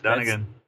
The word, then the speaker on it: Dunagan: Dunagan, is that how we pronounce it? That's it, Dunagan.